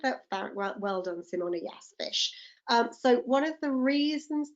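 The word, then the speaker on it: ghoti: So if I give you those words, how do you pronounce G-H-O-T-I? Yes, Georgina, fish, well done. So we've got the enough, the GH is a f sound. The O is a wi, women. And motion is a sh sound.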